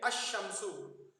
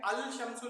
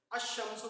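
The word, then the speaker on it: الشمس: हैं तो लाम तारीफ, अलीफ और लाम जो रहता है वो लाम तारीफ पढ़ा नहीं जाता, डायरेक्ट हम इससे मिला के पढ़ते हैं। जैसे कि अशमसु, अलीफ लाम शीन मीम सीन है अशमसु के स्पेलिंग, लेकिन हम पढ़ क्या रहे हैं, अल शमसु नहीं पढ़ रहे हैं बल्कि अशमसु बोल के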